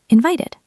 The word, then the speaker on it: invited: Invited. That's an ID sound.